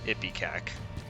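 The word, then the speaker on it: Ipecac: not pronounced ippy cac yes it is it's pronounced ippy cack if you didn't know before now you know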